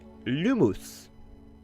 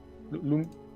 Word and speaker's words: Lumos: Sa formule est Lumos. Tout le monde répète avec moi, s'il vous plaît. Lumos. Lumos. Lumous.